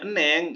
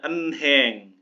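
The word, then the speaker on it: 은행: ada tulisan begini nih Nah tapi kalau dibacanya Eneng ini wah ini udah Korea ini kalau masih awal awal banget baru sampai Korea dibacanya en Heng tapi kalau udah wah udah dibaca Eneng atau Manon itu ah udah pasti orang tersebut pernah belajar bahasa Korea keciri teman-teman nah kemudian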